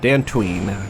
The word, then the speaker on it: Dantooine: Dantuine Dantuine almost like two syllables not Dantuine or something kind of in between.